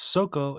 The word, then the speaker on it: 底: This is pronounced as soko in Japanese and de in Chinese.